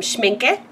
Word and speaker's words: Schmincke: So, I got these to go with my new watercolor set, which is by Schmincke. I think that's how you say it, with a little accent on the end.